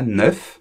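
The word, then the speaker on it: neuf: porque la F, bueno, primero se pronuncia la F en la palabra suelta, 9. Lo que pasa es que la F se transforma con el sonido como una V en francés. Va, va.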